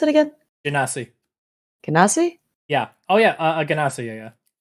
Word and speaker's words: Genasi: Water Genasi? How you pronounce it again? Genasi. Genasi?